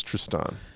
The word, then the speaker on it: Tristan: It's Tristan. Well, that just changed my thoughts on this. Jesus Christ, man. It's the emphasis is on the second syllable.